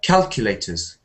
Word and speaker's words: calculators: So when we say normal, I think that means the first syllable, like calculators.